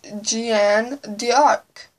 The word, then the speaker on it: Jeanne d'Arc: the story went on, I found out the name was French. So, after reading and asking people that know French how to pronounce it, I know how to pronounce her name, and it's Jeanne d'Arc.